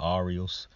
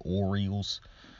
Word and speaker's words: Orioles: name to pronounce because I used to pronounce them the Aerials now and I figured out how to pronounce it Orioles I don't even like